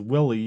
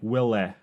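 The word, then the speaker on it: Wuille: Well, this is funny because I say it as Willie, but it's like Wille. It's Peter Wille.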